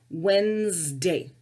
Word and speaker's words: Wednesday: next day but that's one of the words that we don't pronounce all of the letters we just say Wednesday okay so wedn es